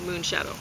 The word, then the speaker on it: Moonshadow: So the moon gets the accent. Shadow, not so much.